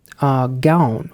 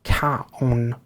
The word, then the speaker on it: Gaon: Gaon or Kaon is apparently how I'm supposed to pronounce the member's name.